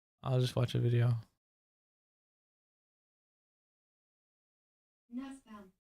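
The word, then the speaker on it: Nussbaum: just watch a video Nuzbum. N I said it right. Nuzbum. Okay. Like bum. Nuzbum.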